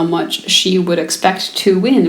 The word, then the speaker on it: mu: random variable X and this Greek letter that looks kind of like you but it's pronounced mu is used to represent